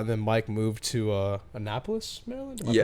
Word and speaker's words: Annapolis: I would hang out a lot, and then Mike moved to Annapolis, Maryland. Am I Yeah.